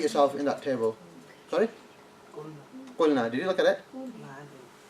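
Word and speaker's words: قلنا: You wouldn't say qalana or something, you're not going to say that. It's going to be qulna. Okay, so for this verb, that's how you say it, yeah?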